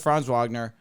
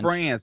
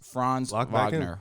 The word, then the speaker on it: Franz Wagner: Franz Wagner Paolo bonquero Franz yeah I said Franz Wagner Wendell Carter Jr that Jonathan Isaac there you go Cole Anthony I didn't even mention no you said France he's he's good enough to where his name